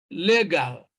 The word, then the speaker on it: legal: But in D, we have legal. So stress is on the first syllable.